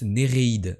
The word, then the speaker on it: Néréides: profondeurs d'une cave argentée ça se prononce Néréides ah pardon ah mais c'est comme il y a pas de petits points en vrai il y a pas les deux petits points je ne sais pas